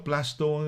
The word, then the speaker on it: Plaistow: Plaistow. East London? Yeah, Plaistow. Yeah, marami Plaistow ba? kaibigan doon. Yeah, no, it's, yeah. Minsan kasi narinig ko, Plasto ang pronunciation nila. Plasto, no?